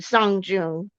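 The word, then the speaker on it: Sơn Đoòng: it's the biggest cave on Earth, and it's called the Sanjun Cave. Help me Um, pronounce that. San, as in song, like song.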